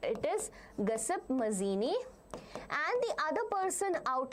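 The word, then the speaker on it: Giuseppe Mazzini: Pronounce it correct. It is Gaspip Mazini.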